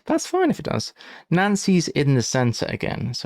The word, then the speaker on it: Nancy: To say Nancy's in is like saying the word for in Nancy or Nancy as it's pronounced.